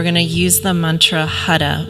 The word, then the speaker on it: Har: to use the mantra hada which is spelled h-a-r but the tongue hits the roof of the mouth as though you're rolling your r so it's hada almost like you're saying h-u-d so we'll be chanting